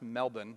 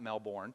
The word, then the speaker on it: Melbourne: that what it is but the Melbourne it's pronounced Melbourne not Melbourne Melbourne cricket grounds and and Friday morning at 2:30 a.m.